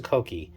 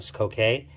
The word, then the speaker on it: Sokoke: The Sokoke, the name, it is pronounced Sokoke. Actually, yes, Sokoke, not Sokoke.